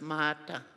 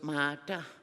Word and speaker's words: Martha: All across Nunov it's pronounced mata. Um we don't have an h initut uh salabics so it's mata.